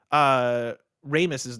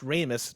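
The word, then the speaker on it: Harold Ramis: Ramus's name is pronounced Ramus, not Ramus.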